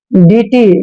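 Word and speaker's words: deity: हैं next word देखिए डी ई आई टी वाई डी का उचा ड करते हैं ई आई को ई की मात्रा पढ़ते हैं और टी का उच्चारण ट करेंगे और वाई को फिर से ई की मात्रा लिखेंगे डीटी डीटी होता है देवी देवता जो हमारे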